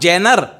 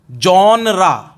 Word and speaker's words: genre: जॉनरा, the pronunciation is not genre. What is the pronunciation of this word? Genre. G-E-N-E-R-E. G-E-N-R-E. Sorry, right लिखा है मैंने इसमें. जॉनरा, यह है इसका उच्चारण.